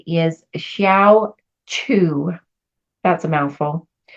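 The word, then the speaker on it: Hsiao Ch'u: The I Ching name for gate 9 is Xiao Chu. That's a mouthful. It's spelled HSIAO is the first word. And the second word is CH apostrophe U. Xiao Chu.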